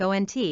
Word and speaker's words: aunt: to March ahead with ant instead another creative way that people say the word ant bends the vowels to sound like ain't some people surveyed claim they pronounce the word like ont when it's being used